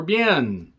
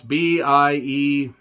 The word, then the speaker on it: Biehn: It has John Spencer, David Morse, William Forsythe, Michael Biehn, or Bien. Biehn, I think is how it's said. I don't know. It's Biehn, so let's just go with that, from Terminator.